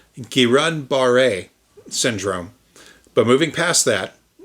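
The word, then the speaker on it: Guillain-Barré: GBS is first off actually pronounced Kiran Baret syndrome, but moving past that people do call it Gileian bar.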